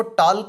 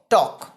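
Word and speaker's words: talk: देखिए यहाँ पे TAL के लिखा हुआ है ना, तो इसको टॉल्क नहीं पढ़ेंगे, क्या पढ़ना है इसको, टॉक। एल जो है साइलेंट रहता है।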